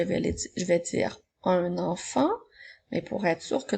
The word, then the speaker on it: enfant: et le mot enfant n'oublie pas la lettre Muette dans le mot enfant le prochain mot et